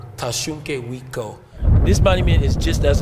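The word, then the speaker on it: Tȟašúŋke Witkó: So in our language, we say Tashunke Witko. Tashunke Witko.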